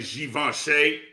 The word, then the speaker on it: Givenchy: but we've got a collab here uh from Givenchy and Disney which is very interesting so you like that Marcus that I know how to say you better say given Shea you better say it like you better say